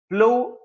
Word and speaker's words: plough: द प्लो बॉय, प्लो PLOUGH, GH इसमें a sound की तरह निकलता है, साइलेंट है, इसमें गाफ किया ग की आवाज नहीं निकालता।